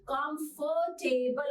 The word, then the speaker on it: comfortable: है हम क्या बोलेंगे हम इसको कम कॉम की जगह कम फॉर की जगह फर राइट कंफर्टेबल और आर तो इसमें